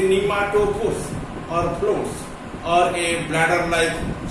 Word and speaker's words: pneumatophores: Second kind is called as pneumatophores. That P is silent. You can say nematophores or floats or a bladder-like structure.